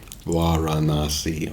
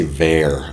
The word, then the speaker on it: Varanasi: I always say Var. I don't know how I can still be doing that after all these years. Mispronouncing. I see an A, I pronounce it like one of the wrong ways to pronounce it in English.